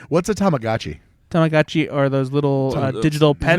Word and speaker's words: Tamagotchi: he's not gonna be worried about Tamagotchis coming to kill him in the middle No, of the night. no, and like What's a Tamagotchi?